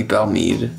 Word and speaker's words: Belle Meade: wait a second all right number one is a bell need i really hope i'm pronouncing that right it's gotta be belle mead yeah belle mead cast strength reserve okay that